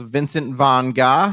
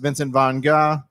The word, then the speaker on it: Vincent van Gogh: learned that vincent van gogh's name is actually pronounced vincent von gah did you guys know that mannequin petey steele